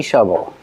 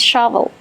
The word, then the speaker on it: shovel: They even have a little baby shovel. How do you pronounce shovel? Shovel. Use the short sound like cup and up for the first vowel.